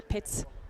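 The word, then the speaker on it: Pätz: lead thrower johannes patz that's an interesting name pat's we have several famous passes or pits more like the swiss pronunciation here in switzerland so the most famous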